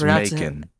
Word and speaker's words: Macon: It's Macon. Yo, I'll pronounce it how I want.